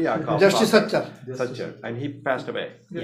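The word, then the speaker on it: Sachar: The soccer report, is that soccer? How do you say? Satchar. I cannot pronounce it correctly. Justice Satchar.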